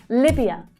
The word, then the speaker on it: Libya: Libya. Libya. So the first syllable there is the strongest as well.